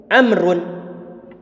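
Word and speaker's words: عمرو: hitam ini bernama am kalau ada huruf fauna begini kita bacanya Amr bukan Umar tapi Amr jadi nama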